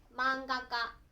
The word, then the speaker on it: まんが家: « à titre d'exemple de la façon d'utiliser « ka » est d'attirer le mot «まんが家» et le lire comme « manga ka ».